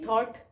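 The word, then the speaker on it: thought: एच जी एच भी क्या है यहां पे साइलेंट लेटर है ऐसे ही थॉट थॉट में भी ओ यू क्या है यू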